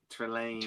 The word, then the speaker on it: Trelane: Trelane.